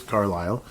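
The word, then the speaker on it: Carlile: Declan Carlisle, it's spelled differently than the other Carlisle you normally see, but it is Carlisle.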